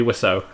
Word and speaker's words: Wiseau: Also, please remind me how to pronounce his name, because I forgot. Tommy Wiseau.